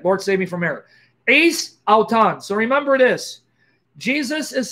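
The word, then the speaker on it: εἰς: No, not heis. I'm sorry, forget it. Don't pronounce it heis. Forget it. Lord, save me from error. Ace auton.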